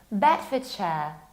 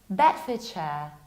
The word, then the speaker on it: Bedfordshire: It's not Bedford, because Ford is not pronounced like Ford. It's Bedfordshire, Bedfordshire.